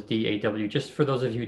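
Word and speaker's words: DAW: mentioned da dan you you pronounce it by the initials d-a-w just for those of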